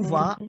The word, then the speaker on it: vas: Je vais, tu vas. देखो यहाँ पे what we are doing over here, we are not pronounced S because S would be silent.